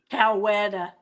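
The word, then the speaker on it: Coweta: Cowetta.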